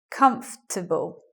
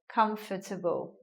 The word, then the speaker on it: comfortable: vowel undergoes elision well now we get a three syllable word comfortable as I mentioned some people will say the words in a four syllable way like this comfortable but yeah again all